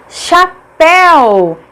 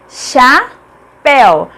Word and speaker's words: chapéu: Agora, olha só a palavra chapéu, chapéu. Pel é a última sílaba, é tônica, portanto é acentuada porque é uma oxítona terminada em ditongo.